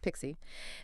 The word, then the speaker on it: PKCE: Right, PKCE, pronounced Pixie.